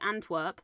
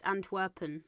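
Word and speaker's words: Antwerpen: So, we call it Antwerp, but it's Antwerpin on the signs as you can see it there.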